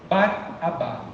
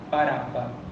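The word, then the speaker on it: Barabba: pedem que solta baraba em italiano ainda se pronuncia desta forma bar abá baraba O Filho do pai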